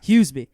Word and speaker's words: Huseby: How do you pronounce the last name? How do you say it correctly? Huseby.